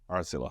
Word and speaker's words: RTILA: Or did I pronounce That's right? Yeah. RTILA.